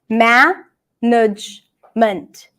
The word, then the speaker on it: management: How many syllables do we have here? Management. Management. We have 3 syllables, 3 vowel sounds, but don't get confused by the fact that we have 4 vowel sounds, because sometimes there are some vowel sounds that are not pronounced.